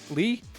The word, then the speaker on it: Lei: but not quite great Le or is it how do you say it it's l e i lee the started off as